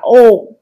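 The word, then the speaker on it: 王: Vua ở đây có cách đọc là ô.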